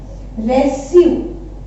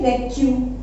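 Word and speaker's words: reçu: एंड सी you, last example इसका है रेस्यू, okay, रेस्यू, एंड रेस्यू means receipt, रेस्यू means होता है रिसिप्ट, ठीक है। तो अदरवाइज विदाउट एक्सेंट हम इसको प्रोनाउंस करेंगे रेक्यू, बट विद एक्सेंट रेस्यू, ठीक है।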